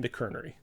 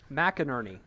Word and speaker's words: McInerney: and finally by the father of us all, McKernery. Which I don't know that I'm still pronouncing that name correctly. I think I'm the only one who's gotten it right. McInerney. McInerney. There it is.